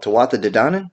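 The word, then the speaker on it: Tuatha Dé Danann: How do you pronounce this? Oh, Tawatha Dedanan?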